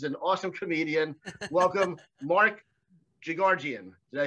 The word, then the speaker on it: Jigarjian: funny because he's an awesome comedian welcome mark gigardian did i say that right oh nail nailed the pronunciation all right but from now on we're